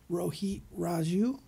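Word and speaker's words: Rohit Raju: former midwest champion how do you say that Rho Heat Raju Rho heat Raju formerly known as Hakeem Zane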